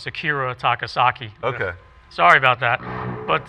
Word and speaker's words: Akira Takasaki: another type of harmonic I I learned from kirit takasaki of loudness okay where you run your hand up and down that's clever right actually I said his name wrong Akira takasaki okay sorry about that but uh you know